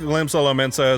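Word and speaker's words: Limsa Lominsa: I think Limsa Lomensa is how you pronounce this one.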